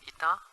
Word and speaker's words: eta: It's called eta. Pronounced as I-T-A, eta.